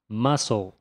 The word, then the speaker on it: muscle: Agora nessa próxima palavra, o C é silencioso. Então a pronúncia é muscle.